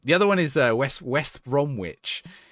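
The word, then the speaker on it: West Bromwich: The other one is West West Bromitch. If you say it like that, everyone gets furious. West Bromitch. Cuz that's literally how it's written. Everyone goes, "It's it's not West Brom Witch, you muppet."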